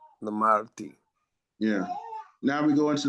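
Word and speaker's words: למדתי: If you can't get it, I mean, throw a little E in there if you have to, but it's pronounced really Lamadti. Lamadti.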